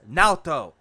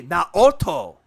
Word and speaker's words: Naoto: to Persona 4 nalto the game pronounce it and you hear the voice actress say my name is naoto he's like no that's not right it should be not Otto well Phil needs to